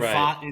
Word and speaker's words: Pfaadt: Brandon Pfaadt, like you have a solid 5. Brandon, that's how you pronounce it.